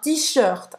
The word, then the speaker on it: t-shirt: Presta atenção nessa pronúncia afrancesada. Un t-shirt.